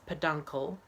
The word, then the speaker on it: peduncle: And if your nasal passage allows it, you should pronounce peduncle, peduncle, peduncle, pedophile, uncle, or if you're British, pedo uncle, so pedo uncle, no, peduncle, not panicle.